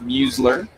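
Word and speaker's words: Muizelaar: Again, spells his name M-U-I-Z-E-L-A-A-R. Pronounced Musler. 3 pitches, 3 strikes.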